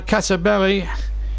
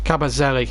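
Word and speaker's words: Kabasele: Cabazelli, that's his correct pronunciation. I've been pronouncing it wrong all the time.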